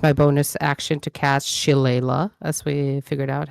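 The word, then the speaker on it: Shillelagh: staff and use my bonus action to cast Chilea as we figured out how it's pronounced. Yes. Shala.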